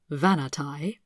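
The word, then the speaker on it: Vahnatai: in this one on the vanity people the vanity pronounced vanatai are a very interesting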